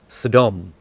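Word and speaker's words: סדום: towards the city of Sodom which in Hebrew is pronounced Saddam they left the scene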